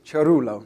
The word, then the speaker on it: Cerullo: actually can't juggle but i can pronounce my name which is chorolo which is an italian name can resist it sorry